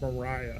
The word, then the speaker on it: Mariah: Oh, it's pronounced Mariah.